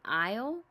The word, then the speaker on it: aisle: It says I as in aisle. The A is silent.